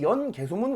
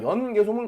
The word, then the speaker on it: 연개소문: 연개소문은 참고로 성이 연씨고 이름이 개소문이기 때문에 연개소문이 아니라 연개소문이라고 읽는 것이 맞습니다. 자, 이 연개소문 같은 경우에는 정치적인 정변을 일으키게 됩니다.